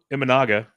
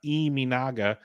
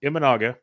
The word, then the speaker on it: Imanaga: I'm going to put this on but shto imaga is how they pronounce it on TV not imaga it's imaga so he's been absolutely amazing 084 er um